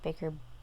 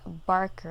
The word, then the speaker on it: Barker: i read another clive baker why do i keep saying baker clive barker i am tired clive